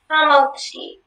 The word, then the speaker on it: hamotzi: Hamotzi. Can you give all the information? Hamotzi is the only pronunciation.